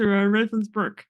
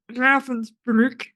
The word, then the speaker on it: Ravensbrück: Yeah, and even especially when they get to Ravensbrück or Ravensbrück in the actual pronunciation.